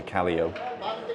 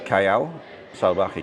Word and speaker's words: Cayo Salvaje: A lot of the expats call it Callio because it's spelt very similar to Callio. And so you might hear people say, we're going to Callio. But it's Cayo Salvaje.